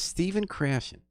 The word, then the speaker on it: Stephen Krashen: His name is Stephen Krashen.